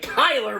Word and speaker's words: Kyler: I think if Skyler Murray can actually uh Kyler Murray not Skyler Murray I don't know why I call him Skyler Murray sorry I think that was one of